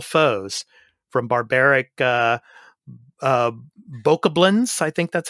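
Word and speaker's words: Bokoblin: hyrule's most formidable foes from barbaric uh uh boca blends i think that's how you pronounce it boca blands not goblins but boca blends to towering uh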